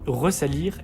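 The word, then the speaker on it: resalir: Il existe 3 verbes pour lesquels on ne rajoute pas de deuxième S. Mais on fait le son comme s'il était là. C'est le cas de ressaler, ressalir et resituer, qui se prononce bien comme ça, même s'il ne possède qu'un seul S.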